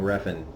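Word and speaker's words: Refn: the good title by Nicolas Winding Ruffin I guess I was right the whole time how to pronounce his name I thought it would be harder than that so we're on Episode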